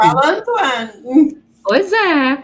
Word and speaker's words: Antoine: Como é que pronuncia? Eu falo Antoine.